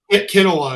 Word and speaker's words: Kanawa: Kenowa is usually what I say. Oh, Kanawa. Okay. Spelled with an A, pronounced like an E. Yes. Kanawa.